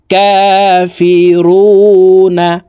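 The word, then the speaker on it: كافرون: কাফি রুনা প্রিয় দর্শক রু এখানে তিন আলিফ টানে নুনকে সাকিন করতে হবে কারণ মদের হরফের বামের হরফে ওয়াকফু হইলে মধ্যে আরজি তিন আলিফ টানি ইয়া পড়িতে হয় তো দেখুন শব্দটি এভাবে পড়তে হবে কাফিরুন সম্পূর্ণ আয়াত বলে দিচ্ছি আপনারা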